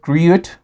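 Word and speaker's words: gruyère: Her meal was $45 with gruyere. Yes, that's how you say it. Yeah, gruyere.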